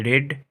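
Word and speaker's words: read: मैं जनवरी में पढ़ा, आई रीड इन जनवरी। तो यहाँ रीड नहीं पढ़िए, गलत है, रेड होगा उच्चारण। तो देख रहे हैं हम लोग, सुबह शाम है ना, आपका हो गया।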